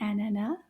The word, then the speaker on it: ananas: They both have the A sound at the end because the S is silent in this word. It doesn't make a sound.